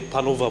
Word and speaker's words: Panover: Bruder, wie wird dein Laden ausgesprochen? Panova? Da habe ich richtig gesagt, okay. Panova, Bruder, Panova.